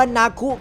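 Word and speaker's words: 泣く: ครับ ข้อ แรก ครับ ชื่อ ของ นัก เคอ ใน ภาษา ญี่ปุ่น นั้น อ่าน ออก เสียง ว่า นาคุ ครับ แปล ว่า ร้อง ไห้ นั่น เอง ก็ อาจ จะ สอด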